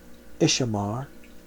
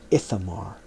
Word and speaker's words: Ithamar: But Eleazar and Ishamar he preserved for himself for an eternal covenant of priesthood. Sorry, that's pronounced Ithamar.